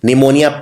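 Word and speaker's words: pneumonia: निमोनिया P से शुरू होता है, लेकिन इसमें P का उच्चारण नहीं किया जाता।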